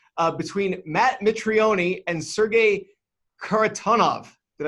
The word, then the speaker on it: Mitrione: all the time so Mitrione it's a silent E is favored at minus